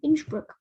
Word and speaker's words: Innsbruck: and it's in austria they speak german and that is the german pronunciation and so austria is